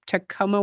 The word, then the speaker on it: Tacoma: you're coming to us I think I just said it right tooma Washington correct very very good is that